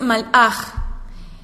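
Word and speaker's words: מלאך: es bien curioso esto, porque hay que pronunciar bien las palabras, porque si no estamos diciendo otra cosa, no podemos decir vino el malaj del Eterno, porque estaremos diciendo vino el sal del Eterno. Y no, y hablando de sal para sazonar.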